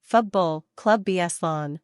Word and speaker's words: Futbol Club Barcelona: Futbol Club Barcelona, Catalan pronunciation, Futbol Club Barcelona, listen, commonly referred to as Barcelona and colloquially